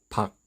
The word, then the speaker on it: 밖: 예를 들어 워터멜론의 의미를 가진 단어 수박, the outside의 의미를 가진 단어 박, kitchen의 의미를 가진 단어 부엌. 자, 하나씩 살펴보시면 수박 종성은 기역이죠. 수박. 두 번째 단어 박, 쌍기역입니다. 그러나 발음은 강한 그, 박.